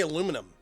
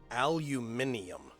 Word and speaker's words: aluminium: I'm sorry sorry I'm sorry it's aluminium um we uh don't have any Al aluminium but I really have to work to say that it's the right way to say it technically speaking but I